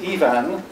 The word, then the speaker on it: Ifan: 402 class will know it's pronounced like two women's names, Eve and Anne. Just say Ivan, just gently and quietly running one into the other, and you got it spot on.